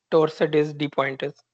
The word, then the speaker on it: torsades de pointes: Torsades de pointes. Kya hota hai ye? Torsades de pointes. This one. Isko pronounce aise nahi karte, ye French word hai.